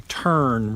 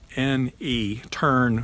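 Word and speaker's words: terne: Then another option besides that would be a turn roof. That's spelled T-E-R-N-E, turn roof.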